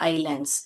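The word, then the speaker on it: island: या तो chain of आइलैंड्स a group of आइलैंड्स बोल सकते हैं या चेन ऑफ़ आइलैंड्स इसको इस करके नहीं पढ़ते बेटा आइलैंड करके पढ़ते हैं वहां पर एस साइलेंट है अ नेटवर्क ऑफ रोड्स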